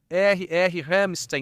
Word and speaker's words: Ramstein: Não é se escreve com com R, certo? Ramstein, não é? Ramstein. Este é Hamstein, certo? Como a banda, né?